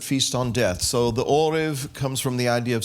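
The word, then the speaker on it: ערב: It's ayin resh bet, orev. But it comes from the root word, and it's spelled identically to this.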